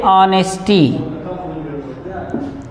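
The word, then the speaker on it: honesty: और इसके अलावा भी जो आपको ऐसे एच से शुरू होता है लेकिन वास्तव में उसका जो प्रोनाउंसिएशन होता है वो ह नहीं होता है, अ होता है। जैसे ऑनेस्टी, जैसे ऑनेस्टी, तो ऑनेस्टी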